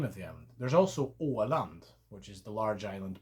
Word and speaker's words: Åland: There's also Åland, which is the large island between Sweden and Finland. Åland, same principle, an Å with land afterwards.